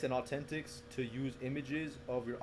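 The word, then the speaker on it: AU10TIX: also another company called Authentics, which is, it's funny because they spell it AU10 ticks, but like Oh, if you yeah. if you see it, it's Authentics.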